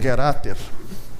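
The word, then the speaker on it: getattr: Então, por exemplo, se eu eh chama usar a função primitiva do Python e que o pessoal pronuncia como getater, a getater ela você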